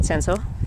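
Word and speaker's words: Cinsault: kunoa and S how do you say it sanso sanso they're um rown varietals you mostly used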